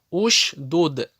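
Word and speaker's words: اشدد: Если третья буква огласована даммой, как это первый столбик у нас, значит в таком случае хамза туль-васль всегда читается У. Уш-дуд, ур-куд, унзур.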